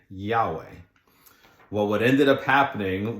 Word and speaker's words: Yahweh: And what happened is that when the Bible was being translated for the Western world, they added some vowels so that we could have a pronunciation. So we now have Yahweh.